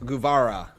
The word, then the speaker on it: Guevara: Jay Notice says it's pronounced Guevara. Sammy Guevara.